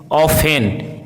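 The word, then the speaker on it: often: hustle bustle listen glisten ऑफेन इन सभी words में एसटी साथ में है यहां पे एफ टी साथ में है इसलिए यहां पे टी का उच्चारण साइलेंट है अगला देखते हैं साइलेंट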